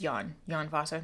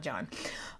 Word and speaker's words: Jon Fosse: his last name right I know it's yan yan FASA not Jon um he's a Norwegian